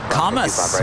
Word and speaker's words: Camas: We watch from Camas, Washington, but today we are honored to visit you.